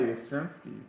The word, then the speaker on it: Yastrzemski: Oh, look at that, Yastrzemski.